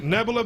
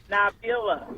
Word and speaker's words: Nabila: Nebula Bay. Nebula Bay, are you there? Am I pronouncing your name correctly? Nabila. Nabila.